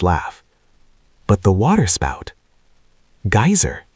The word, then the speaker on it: geyser: The geyser, a word the Icelanders pronounced geier, and which signifies fury, rose majestically from its summit.